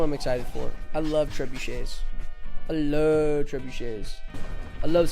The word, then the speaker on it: trebuchet: 3 syllables. 3 syllables. Treb you Shay. That's what I'm excited for. I love trebuchets.